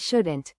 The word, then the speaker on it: should: In the words should and shouldn't, the letter L is silent.